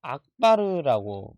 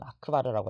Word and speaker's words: 아크바르: 우리 아크바르 대제는 스님 공부할 때까지만 해도 아크바르가 아니라 뭐 악바르라고 부르기도 했었어요. 이게 발음 차이긴 한데요. 지금도 어느 책에는 악바르라고 나오기도 하는데 우리 교과서에서는 아크바르라고 나와 있으니까 우리 교과서의 용어를 항상 사용해야 합니다. 악바르도 틀린 말은 아닌데 우리 교과서에서 아크바르라고 하니까 우리 아크바르로 하도록 하겠습니다.